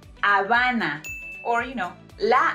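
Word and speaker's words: Habana: of Cuba it's pronounced Avana or you know La Havana not Havana all right Havana it's Havana because remember that letter H is silent okay so we say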